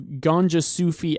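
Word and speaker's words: Gonjasufi: Now we have the new Ganja Sufi album. That's how you pronounce it.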